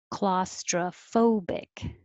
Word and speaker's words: claustrophobic: 16, claustrophobic. Claustra. It doesn't have to be tro because it's not stressed.